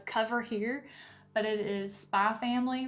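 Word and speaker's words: Spy × Family: here, but it is Spy Family Volume 1, The X is Silent, and it is by,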